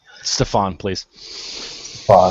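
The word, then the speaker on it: Stephon: Like I said, I don't know how to pronounce his name. Stefan, please.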